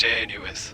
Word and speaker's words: Janus: Okay, sounds good, Janice. I'll talk to you later. Actually, it's pronounced Janus, not Janice.